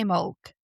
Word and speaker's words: Imbolc: Focusing on Imbulk, or as you'll later hear it pronounce, I imulk, a celebration marking the first signs of spring.